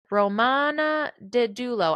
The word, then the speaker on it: Romana Didulo: Romana Didulo, I was saying it right, born November 1974, is a Filipina conspiracy theorist who moved to Canada in 1990.